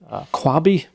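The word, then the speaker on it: Qwabe: Kwabe, that's how you pronounce it.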